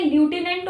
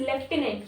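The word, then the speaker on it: lieutenant: Spelling में ल्यूटिनेंट होता है बट the pronunciation is लेफ्टिनेंट। Governors of union territories acts as a decision making body for NITI Aayog initiative.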